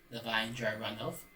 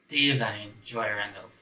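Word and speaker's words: Da'Vine Joy Randolph: I pronounced it Divine Joy Randolph, but I realized it's the Divine. Oh god, messed it up. Hold on. Right, so Divine Joy Randolph.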